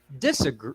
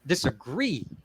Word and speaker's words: disagree: you pronounce the words so for example disagree disagree all right so the focus there is on the second so the last syllable there gree right did you get